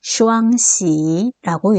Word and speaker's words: 囍: 이러한 기쁠 희자를 두 개를 붙여가지고 하나의 글자로 만들어냈는데 이 글자를 읽을 때 우리는 슈앙시라고 읽습니다.